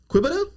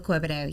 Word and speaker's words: Quebedeaux: We're going to be talking with uh Dylan and Kristen Quida. Crystal. Crystal Queido. Yes. Okay. Yeah. Quiet. I I see I I butchered last names bad, but I I think I got that one.